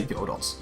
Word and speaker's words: Godot: So yeah, I'm gonna be trying to Godot, however you wanna pronounce it. I say Godot.